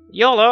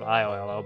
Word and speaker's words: Iolo: you only live once like Y Olo instead of iolo but jokes are bound